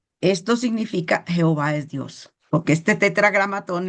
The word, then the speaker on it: Jehová: Pero hoy día mucha gente no dice Jehová, sino Yahweeh. Y ese Yahwe no puede ser porque en hebreo no existe el sonido y de pronto si dijesen Yahweeh, pero la pronunciación de verdad que aparece en las en las biblias antiguas es Jehová.